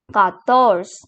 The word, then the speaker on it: quatorze: And here we have 14, which is called as quatorze. Quatorze. Now comes 15, which is pronounced as quinze.